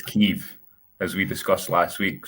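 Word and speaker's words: Kyiv: the topic of pronunciation I'm reliably informed it's keev as we discussed last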